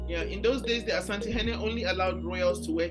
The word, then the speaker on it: Asantehene: In those days, the Asantehene, how is that pronounced? Asantehene.